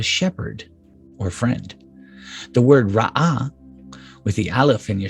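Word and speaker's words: רעה: Both sound exactly alike. Only someone whose native language is Hebrew, not me, would be able to detect the slight subtle difference in sound.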